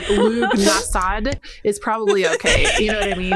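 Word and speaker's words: Lughnasadh: It looks weird as hell, so any guesses, any pronunciation that's not Lunasad is probably okay.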